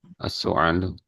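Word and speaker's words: السؤال: As su'alu. Heeh, berarti nanti artinya Soal, as-su'al, ya. Oh, ya, as-su'alu, artinya pertanyaan atau ya, bertanya. Pakai hamzah, pertanyaan. Pakai ain, artinya batuk. Jadi, diperhatikan cara membacanya.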